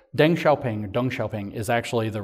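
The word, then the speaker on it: Deng Xiaoping: pun here in English I'm trying to train myself to say his name what closer to correct verus dung shaing not Den shaing but Deng shaing dong shaing is actually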